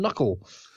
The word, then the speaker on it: knuckle: You know, K from knuckle. Knuckle. Why did we drop the sound on it?